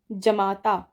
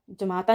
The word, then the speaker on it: जामाता: जमाता, जमाता नहीं जमाता नहीं जामाता होता है।